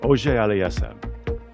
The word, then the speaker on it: Auger-Aliassime: All right, so French Canadian name, how would you pronounce? Felix, I have to work on the French part, but let's see. Auger Aliassime. Auger Aliassime.